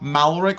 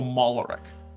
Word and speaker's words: Malik: And the pronunciation of it could be I again you can go either or with it. Malik or Malik.